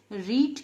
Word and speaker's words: read: रीड की जो spelling होती है वो READ होती है, पास्ट टेंस में भी यही स्पेलिंग होती है, मगर इसको हम पढ़ते हैं रेड।